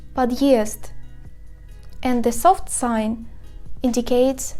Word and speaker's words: подъезд: The hard sign indicates the hardness of the consonant standing before this sign. For example, подъезд.